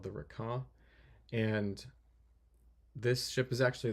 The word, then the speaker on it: Requin: And now I'm working on a ship called it's hard to pronounce because it's French, but the word means shark. It's called the Requin.